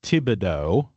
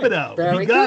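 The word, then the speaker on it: Thibodaux: I would look at that and I think I think reasonably I would assume that that's pronounced Tibido.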